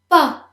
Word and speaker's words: pas: Pas. The S is silent.